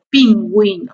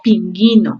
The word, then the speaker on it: pingüino: G y la GI, cuando se debe pronunciar la U, ¿ya? O sea, cuando queremos que se diga hue o wi. Por ejemplo, cigüeña o pingüino, ¿cierto? Si no le colocamos la diéresis, diría cigueña o pinguino, ¿cierto?